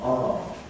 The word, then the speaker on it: are: Strong form are, weak form are. Tell me where they are. Emphasis at the end. Some of them are in the room.